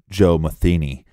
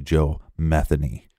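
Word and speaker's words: Joe Metheny: you look up some reports they will say Joe meeni but it's actually Joe methany yeah we got that from local Baltimore reports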